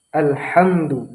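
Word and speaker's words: الْحَمْدُ: Nah, pada huruf ha masih sering terjadi kesalahan. Harusnya kita menggunakan huruf ha kecil, alhamdu.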